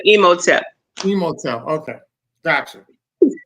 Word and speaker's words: Imhotep: Emoteep. It's really emote, but emoteep.